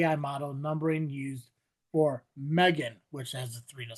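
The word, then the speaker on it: M3GAN: So Megan, so M3 Gam, but obviously the three is supposed to be the backwards E. So uh a spin-off of the movie Megan.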